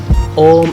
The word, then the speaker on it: Om: people people chant o om in fact is formed by three syllables or three letters which are a u and m so next time when you chant it try to try it slow and start with all so it consists of three syllables and when you chant